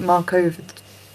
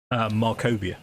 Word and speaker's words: Markovia: I'm going to say it, Markova, but I'm going to say it wrong. Abbey, right? Markovia, yeah.